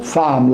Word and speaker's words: femme: comme dans le mot femme, la femme. Femme, vous dites la femme. Je l'écris avec un E, mais je le prononce A.